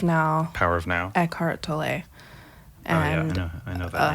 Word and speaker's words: Tolle: Eckhart Tolle. And I know that name. like when I started reading that book when I was 17 or 18 years old. I've been saying Toll this whole time.